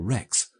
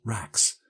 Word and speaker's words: Rex: people in the street failed completely to pronounce the monosyllable Rex. They all said Rax, and it always distressed me. It always suggested to me seaweed and rack and ruin.